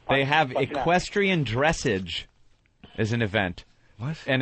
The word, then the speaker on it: dressage: Equestrian dressage? Dressage, actually. Dressage? Yes. I pronounced that right.